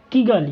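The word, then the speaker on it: Kigali: ठीक है, देखिए लिखा हुआ है किगाली, यहाँ पे किगली लिखा हुआ है लेकिन एक्चुअली में इसको बोलते हैं किगाली।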